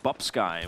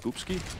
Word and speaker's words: Bubsky: Yeah, but why do you think I'm calling him Bubsky when it's actually pronounced Boopsky?